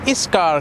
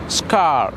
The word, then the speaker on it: scar: ගොඩක් කට්ටිය is scar කියලා කියනවා. ඉතින් is scar කියන එක වැරදි. scar කියලා තමයි අපි හරියට pronounce කරන්නේ.